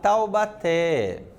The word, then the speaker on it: Taubaté: aí nós temos lá Taubaté Taubaté estão fazendo a separação silábica Taubaté temos três sílabas o assento está aonde está na última sílaba então nós temos aqui o que uma oxítona vamos lá Lúcia Lúcia